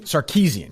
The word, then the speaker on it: Sarkeesian: So this Anita, how would you pronounce her last name? I don't. Sarkeesian? Sarkeesian, yeah.